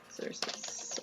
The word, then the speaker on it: Xerxes: Xerxes. Ooh, that's great. That's how it's pronounced.